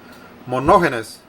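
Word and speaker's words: μονογενής: una palabra que viene del término griego que se pronuncia mono genes mi mono ganas su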